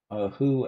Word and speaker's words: Hu: Who as in HU.